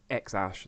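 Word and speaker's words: X Æ A-12: the Tesla Model X his child is named xash that's how it's pronounced and it's written like this x Ash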